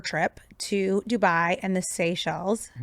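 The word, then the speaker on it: Seychelles: to Dubai and the Sey Shells. Did I say it right? You did.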